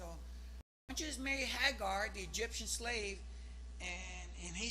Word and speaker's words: Agar: ¿Cómo se dice Hagar? Agarra, sí lo dije bien, ¿verdad? Nomás me dudé yo mismo, hermanos.